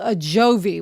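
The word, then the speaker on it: Ajovy: So, what she's talking about is medicine called a joy, which is spelled A J O V Y.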